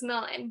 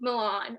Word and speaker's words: Milan: like for example like my name is melon but a lot of people say milan or milan right just like they